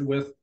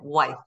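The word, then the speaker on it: Wythe: George with anything yeah I was pronouncing it wife a lot of people do it I think that's the way you'd pronounce it if you just looked at it yeah I was corrected too when I started Jefferson so I said wife they said that's with with okay yeah but uh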